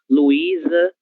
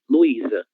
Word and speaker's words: Luísa: Prazer, Luísa, ok? Letra S está entre 2 vogais. Então, ela vai ter som de Z. Luísa, certo?